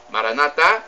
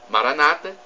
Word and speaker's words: Maranata: ainda é mais a expressão Maranatha ou Maranata Maranata é expressão pronunciada pelos católicos com a tônica na última sílaba Maranata é a pronunciada pelos Evangélicos com a tônica